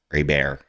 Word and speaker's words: Herbert: on Justin Herbert Herbert a bear um if you are a uh New Orleans Louisiana person a bear that's how you pronounce it but it's uh Justin Herbert he's the qb9 on